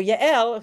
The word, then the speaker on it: Yael: So Yael, who you may, I don't know how to say it. Jael. I don't know how you were taught to say it. Jael. Okay. But I'm going to call her Yael because that's how I know her.